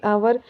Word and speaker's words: hour: ही was late bye एन आवर, क्योंकि आवर ये इसकी HOUR, आवर क्या है हमारा, सिर्फ एच साइलेंट होता है और ये आवर बोलता है, और इसके हिंदी में